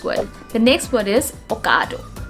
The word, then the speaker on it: Ocado: the next word is ocado ocado the correct pronunciation of this word is going to be it's not o it's a now another brand name